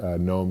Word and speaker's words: gnome: curious where the word gnome comes from because it's kind of unique it has a silent G actually it's a Latin word